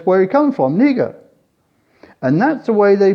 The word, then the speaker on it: Niger: a country next to nigeria which called nega that's how the locals pronounce it and i found that